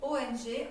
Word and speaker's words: ONG: Dans cette posture, on va prononcer le son ONG. ONG, O-N-G, en le nasalisant, en le faisant vraiment vibrer partout à l'intérieur, comme ceci.